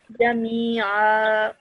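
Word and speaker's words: جميعا: pause is that this tanween now turns into a simple fatha. So one tanween, one fatha is dropped, and you are left with just one fatha and this alif madda. So that's why you pronounce it as Jami'a.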